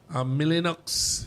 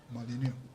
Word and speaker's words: Molyneux: Milinox has joined her. Molyneux. It's Sophie Molyneux. Yes. The X is silent that I have.